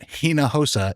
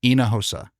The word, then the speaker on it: Hinojosa: That it's not Hinojosa, it's Inahosa. I didn't know that until just the other day. In fact, at our 16th anniversary party in Dallas, someone said, "Hey man, you're saying it wrong."